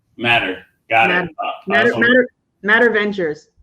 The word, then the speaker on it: MATR: one real quick um how do you pronounce the company and the name of the company for folks I just want to get that right it's matter matter got it matter matter